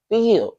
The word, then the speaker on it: Phil: one of my co-workers it sound like Phil like why you say his name like that pH feel feel I guess that's how